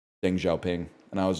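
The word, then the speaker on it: Deng Xiaoping: And I was like, I pronounced Deng Xiao Pang's name wrong. And like all the other kids in the class, I say other kids as if I was a kid. I was the teacher. All the kids in the class laughed at me. And I was like, "Why are you laughing?" And they're like, "It's pronounced Ding Xiao Ping."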